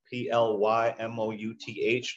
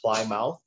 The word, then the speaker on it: Plymouth: not standardized in spelling we spell the town of plymouth p-l-y-m-o-u-t-h yet we don't pronounce it cly mouth right we pronounce it plymouth and this is an